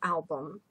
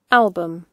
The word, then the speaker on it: album: A photo album. Слово «альбом» имеет ту же «ю», которая у нас отсутствует в произношении. Это только буква. В транскрипции это «шва». Album. Album. Ударение на первый слог.